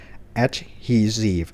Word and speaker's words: adhesive: b a n d a g e bandage adhesive stp strip หรือ strip อ่าน ว่า strip หรือ